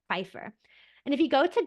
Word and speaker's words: Pfeiffer: No, nothing is silent in German. My husband thinks English is so crazy because all of these silent letters that we have. In German, Pfeiffer would be like that, Pfeiffer. You kind of put that P and the F together, Pfeiffer.